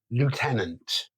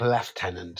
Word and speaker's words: lieutenant: Um, and that's I'm going to say it the American way because that's how it's spelled. Lieutenant. No, I'm with you there. It's not left tenant, is it? It just isn't. There's no Fs. There's no PH. There's nothing to suggest that the presence of an F in that word.